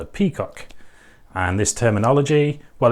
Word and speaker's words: PCOC: But anyway, the abbreviation PCOC, just pronouncing it in English, we have peacock.